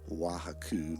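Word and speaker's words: Huautla: Gordon Wassan attends a Mazitech ritual in Wajaku. That didn't sound right, but it's spelled like O A, but it's Waku, Mexico.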